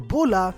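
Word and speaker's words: Bulla: Ball super but wait is her name bra or is it baola well in Japanese her name is spelled bua because the L Sound doesn't exist in Japanese however if you call her bra or bulah both are technically correct number 87 the grand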